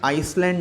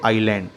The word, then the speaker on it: island: अब याद रखिए इस वर्ड को हमें आइसलैंड नहीं पढ़ना है. ISLAND में S साइलेंट है, उसे नहीं प्रोनाउंस किया जाएगा, हम इसे पढ़ेंगे आइलैंड.